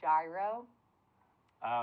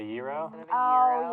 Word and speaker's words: gyro: of two Fortuna um I call it a gyro oh instead of a Euro oh yeah and it's not because I think it's pronounced gyro it's just because it's a it's a regional thing in Pittsburgh I'm from Pittsburgh and